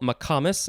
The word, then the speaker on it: McComas: guest today is paul mccomas i think i pronounced that correctly is that right paul you did rhymes with thomas yes spelt like thomas